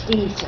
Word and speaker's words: Dieser: How would you say Deezer in Russian? Do you know? Or just be Deezer? It is Deezer.